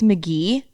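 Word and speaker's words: Mk.gee: by i think it's mcgee um i found it on a playlist on a playlist last night uh yeah you mcgee but it's it so it's pronounced mcgee but it's spelled m-k-dot g-e-e weird he's a producer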